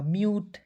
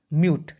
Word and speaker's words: mute: ठीक है, यानी कि दुनिया के किसी भी वर्ड्स के अंतिम में UTE आएगा, उसका उच्चारण यूट के रूप में करेंगे, करेंगे ना जी, म्यूट।